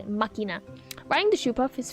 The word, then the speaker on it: Machina: I can never Machina. That's how it's pronounced. I can never pronounce it correctly. Makina.